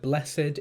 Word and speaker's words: blessed: unhurried in verse 26 the word blessed is two syllables and we need to